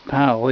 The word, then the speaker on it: Powell: time not Sandy Powell whose name is poell even though this SP spelled the same way here we go viewers